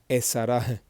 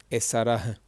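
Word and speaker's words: עֲשָׂרָה: So remember the huh sound. That's what this one receives. Esarah, esarah.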